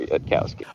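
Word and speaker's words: Yudkowsky: notice but I uh I believe his name is pronounced Eliezer yadkowski ah you know what there you go like the closest to the way I've heard him pronounce it but you know maybe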